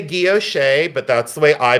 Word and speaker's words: guilloche: I say guilloche, but that's the way I pronounce. Some people say guilloche. Some people say guilloche, and some people say guilloche. I say guilloche enamel.